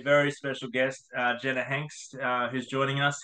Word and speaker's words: Hanks: they have a very special guest uh Jenna Hanks uh who's joining us how you going Jenna good thanks and good pronunciation of the surname there all right guys